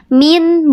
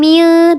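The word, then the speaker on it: مِنْ: Min bukan mil tapi min.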